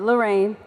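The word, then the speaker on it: Larayne: Lorraine.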